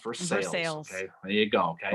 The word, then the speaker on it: Versailles: in the town of verse sales looks like versailles but it's pronounced versus sales okay there you go